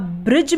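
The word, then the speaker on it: bridge: पर दी साइलेंट रहेगा जैसे ब्रिज बी आर आई दी जी आई ब्रिज अब ब्रिज में दी के बाद क्या ए रहा है जी ए रहा है इसलिए यहां पर दी क्या है साइलेंट है यानी की वह है तो लेकिन वो बोला नहीं जा रहा हम क्या बोलते हैं ब्रिज उसी तरीके से बजट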